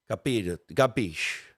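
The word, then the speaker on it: capisce: was uh K never it would never say it like that it was more like uh gabish there a Big G's in there you know I really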